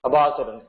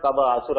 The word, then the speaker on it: Kabasura: Kabasura. It's not Kaba Asura or something.